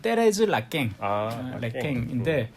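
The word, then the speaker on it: Thérèse Raquin: 작품은 바로 페레즈 라캥입니다 발음도 잘 안 돼 프랑스어로는 사실 떼레즈 라깽인데 누가 썼습니까 에밀졸라 우리나라에서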